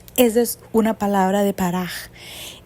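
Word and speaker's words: פרח: Se pronuncia paraj y se escribe P-A-R-A-K-J.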